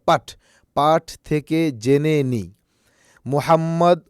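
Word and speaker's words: مُحَمَّد: মোহাম্মদ ও ফাতিহা নতুন মাদ্রাসায় এসেছে। এখানে একটু লক্ষ্য করেন মোহাম্মদ এটা আরবি শব্দ। ফাতিহা আরেকটা আরবি শব্দ। এখানে মোহাম্মদ হা মোটাহা না এটা মোহাম্মদ ও ফাতিহা নতুন মাদ্রাসায় এসেছে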